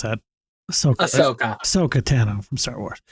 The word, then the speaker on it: Ahsoka: How do you pronounce that? Ahsoka.